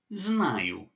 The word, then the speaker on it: знаю: And so this phrase is pronounced ya znаю.